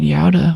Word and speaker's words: Gouda: I actually visited Yada when I was in Holland for Roderdam. It's spelled Gouda American pronunciation, but cute little town.